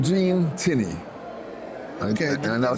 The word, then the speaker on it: Tinnie: your name my name is Jean tiny and I'll spell it this